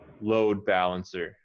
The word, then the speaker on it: load balancer: common with adjectives right load balancer load balancer right you're saying it's a specific type of balancer and so you want to emphasize the word load a little more load balancer load balancer